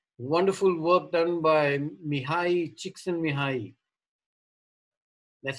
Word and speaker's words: Csikszentmihalyi: Wonderful work done by Mihai Csikszentmihalyi. That's how it's pronounced, by the way.